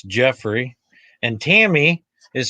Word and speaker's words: Jeffrey: is my real name re y not e r y so it's not Jefferey it's Jeffrey and Tammy is spelled